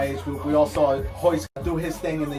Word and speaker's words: Royce: His name is Hoist. It's spelled Royce, R-O-Y-C-E, but Brazilians don't pronounce the R's.